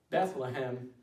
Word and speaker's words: Bethlehem: Bethlehem is how the city name is actually pronounced in the English.